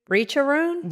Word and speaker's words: Richerand: spelled Richerand, but it's French, so we pronounce it Richerand.